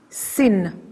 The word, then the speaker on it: sin: on the left hand side and then you pronounce it and you call it sin this is shin and this is sin you